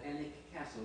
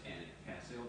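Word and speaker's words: Alnwick: And he lived in this place called Annick Castle. It doesn't look like it's pronounced Annick Castle, but that's the way we're told it's pronounced. And when we say it up there, they recognized it.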